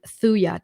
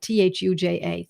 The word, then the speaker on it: Thuja: But read up homeopathic Materia Medica and then look up the word Thuja, Thuja, Thuja occidentalis. The J is silent.